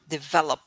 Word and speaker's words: develop: develop yeah develop the develop the emphasis should be on the second syllable develop develop developer okay